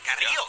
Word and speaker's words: Carrillo: I gotta say, I appreciate the pronunciation. Carrillo. Hey, Carrillo. A roll that R pretty well.